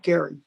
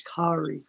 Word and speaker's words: Kari: So thank you, Gary. Actually, I mispronounced it. It's Kari.